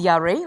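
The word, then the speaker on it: ירא: In the Old Testament, in the Hebrew verb, okay, it's called yareh. It's pronounced yareh.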